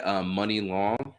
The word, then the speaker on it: Muni Long: Let's see, another one would be Hours and Hours, the Just Incredible edit, and that's by Money Long. So that's spelled Muni Long.